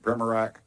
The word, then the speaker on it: Pramarak: Pramarak, is that correct? How do you say that? Pramarak? I got Burchett, man. Nobody gets mine right, so don't worry about it. What is it? Pramarak? Perfect.